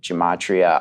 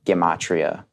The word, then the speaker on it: gematria: good i think classically gomatria is the right pronunciation but technically it's geometry within language so i like the hard g for geometry essentially gamatria is this